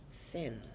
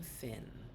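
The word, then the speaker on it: Fionn: McConnell uh-huh well it's it's spelled f-i-o-n-n but it is pronounced Finn they called him Finn and he had to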